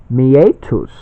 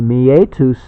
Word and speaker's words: meatus: So it's kind of meat us. meetups, meetup. Well, this is meet us. Meatus, it's Latin.